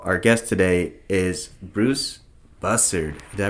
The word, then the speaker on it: Bussard: Speaking of busy, last week, first of all, our guest today is Bruce Bussard. Did I pronounce that right? Close enough. It's Bussard. Bussard. But that's okay. Is that like... It's French.